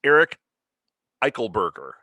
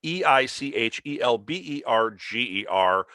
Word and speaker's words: Eichelberger: And then it's Eric Eichelberger. I said it right. You can look him up, Eichelberger.